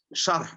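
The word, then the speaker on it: شرح: कदीम शरह, शरह, असल शरह भी वर्ड नहीं है, शरहुन, अरबिक में रा पे जज़म है, देखे शरह, उसकी शरह सही उसका प्रोनाउंसिएशन है।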